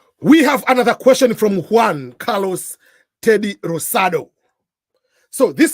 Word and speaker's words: Juan: here us already uh this name start with J but in Spanish J is not pronounced as J in most of the words so it's not Jan